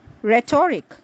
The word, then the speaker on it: rhetoric: The silent H is to be found in words like rhyme, rhythm, rhetoric, rhododendron, rheumatism, rhinoceros, and rhodium.